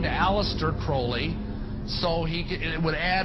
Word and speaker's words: Aleister Crowley: i learned about aleister crowley he likes to be have his name pronounced crowley to rhyme with holy and the satanist today